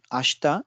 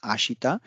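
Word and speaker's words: あした: So you can you must have realized, like, while reading out ashta, I have not pronounced it as ashita, but it is ashta. This one is ashta, tomorrow.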